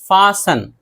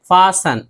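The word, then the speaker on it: fasten: अक्सर सी एच से पहले या फिर ई एन और एल ई से पहले, इन तीनों सूरतों में टी नहीं पढ़ा जाता है।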